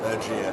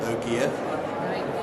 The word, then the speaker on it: Ergéa: I pronounce it Ergéa. Okay. Lots of people pronounce it Ergéa, but I think it is Ergéa. It's actually a made-up name, made-up word from two Greek words that have been spliced together.